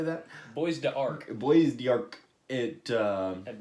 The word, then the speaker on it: Bois d'Arc: Bois d'Arc. Bois d'Arc. It I had no idea how to pronounce it.